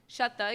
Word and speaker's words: Sweta: My name is Sweta, pronounced Shetta, even though it's spelled with a W.